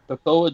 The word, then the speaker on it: Toccoa: How do you pronounce this? Toccoa, Georgia. What? Toccoa. Toccoa, Georgia.